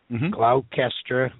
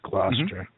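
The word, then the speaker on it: Gloucester: call it Worchester and gler glower it's gluster Wester haal anyway I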